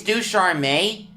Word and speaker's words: Ducharme: I know it's hard to do, but with Ducharme coming back, or maybe it's Ducharme. I think it's Ducharme. That is the French pronunciation.